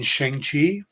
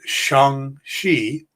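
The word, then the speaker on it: Shang-Chi: working on the pronunciation i grew up with it being sheng chi but according to simulu the uh actor who plays the character and also when kevin feige announced it he pronounced it shang shi so i'm going to do my best to pronounce it that way until i hear otherwise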